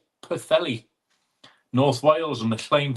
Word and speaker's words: Pwllheli: It's pronounced Pwllheli.